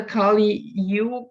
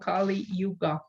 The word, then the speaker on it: Kali Yuga: golden age yes well the kali you this is like you pronounce it a bit different it's from the hindu tradition it's called kali yuga and the kali yuga